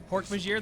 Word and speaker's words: Hork-Bajir: There's the Hork-Bajir. Hork-Bajir. That's how you pronounce it. Yep. I've always wondered. Hork Badger. That's how I said it when I read it. I read it as Hork-Bajir, but I didn't know if I was right.